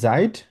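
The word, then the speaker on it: seit: এটা হচ্ছে জাইট, মানে যেহেতু এস আছে, এস কে আমরা জেড এর মতো উচ্চারণ করবো, আর জেড কে এস এর মতো উচ্চারণ করবো। এটাকে বলবো হচ্ছে আমরা সাইট, সরি জাইট বলবো।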